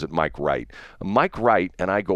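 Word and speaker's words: Mike Reit: And it's not w it's not w i g ht. It's r e i t or something like that. Uh he pronounces it Mike Wright.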